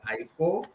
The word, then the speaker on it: Eiffel: My name is Eiffel. It's pronounced like the Eiffel Tower, but it's spelled like I fill a bucket of water.